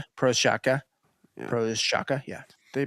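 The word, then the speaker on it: Procházka: Prochazka. Prochazka. Prochazka, yeah. They pronounce it Prochazka.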